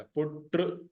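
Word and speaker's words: پٽ: बेटा पुट mean बेटा how will you pronounce it नीचे लिखा हुआ है पी यू टी आर टी के साथ हल्का सा रे का इफेक्ट आएगा पुट हालाकि इसमें रे नहीं है लेकिन हल्का सा इफेक्ट आएगा और पोस्टो फी देन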